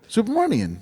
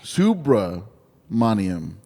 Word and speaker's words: Subramaniam: Supermanian. Subramanium. Subramanium.